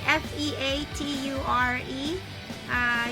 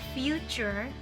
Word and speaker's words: feature: That's F-E-A-T-U-R-E. Usually they say future, but it should be feature, right?